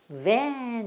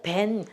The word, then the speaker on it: van: van 이렇게 돼요. van 하면은 승합차를 말해요. 우리는 벤이라 그러죠. 벤. 야, 나 어저께 벤 뽑았는데 뭐 어쩌고 이렇게 해요. 벤이 아니고 van 이렇게 하셔야 돼.